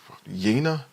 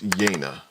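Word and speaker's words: Yeine: with a young woman named yena Yana Yani I had I actually had to go to the audiobook to just really find out how to say this because I yeah I think I don't think I already know right so yeah so her name is yena I had to go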